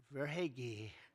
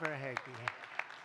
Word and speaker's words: Verhaeghe: a man named Carter Verhaeghe. Carter Verhaeghe. Where's Carter? I could only pronounce that name because I heard it so many times during the service. I said hair is right.